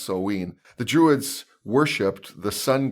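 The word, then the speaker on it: Samhain: actually spelled Si mhm I am but it's pronounced so ween the Druids worshiped the Sun God names like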